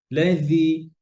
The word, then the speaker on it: الذي: يا أيها الناس اعبدوا ربكم الذي خلقكم خلق রব্বাকুমুল্লাযী, জালের মধ্যে রখাওয়া আছে, এমন ভাবে যেন না হয় উচ্চারণ যেন লাগেই না, এরকম না। লাযী আওয়াজ হবে।